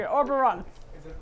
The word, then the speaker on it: Orberon: So anyway, Oberon.